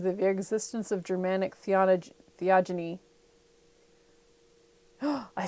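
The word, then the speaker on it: theogony: and they resumed the existence of Germanic theology theogeny I said it right theogeny yes together with the circumstances that that the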